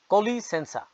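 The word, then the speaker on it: com licença: বলবেন অব্রিগাদু অর্থ সেম ধন্যবাদ এক্সকিউজ মি স্কোপলা কলি সেন্সা পর্তুগিজ ভাষায় উচ্চারণ হয় কলি সেন্সা আপনি ট্রেনে আছেন ভিড়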